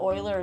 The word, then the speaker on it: Euler: of giving up the 3-jump combo because the oiler is not worth that many points when you're doing triples, but it allowed her to do another triple.